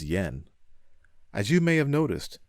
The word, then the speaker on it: JPY: akiyama from jpy inc it is written as jpy and pronounced as yen as you may have